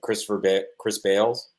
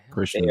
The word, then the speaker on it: Christian Bale: Chris Bales. Why am I saying his name wrong? Christian Bale.